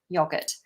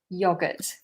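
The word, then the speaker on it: yoghurt: But in the UK, we spell it with an H, yogurt. But we don't pronounce it, of course. Yogurt, yogurt.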